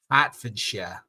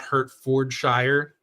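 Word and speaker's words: Hertfordshire: too Boston didn't it hatford not hurt fordshire hurt fordshire I'm hurting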